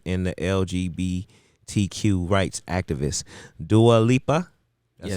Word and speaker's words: Dua Lipa: Dua Lipa, did I say it right?